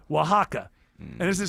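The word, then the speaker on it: Oaxaca: Starts with an O, but it's pronounced with a W. Wajaka.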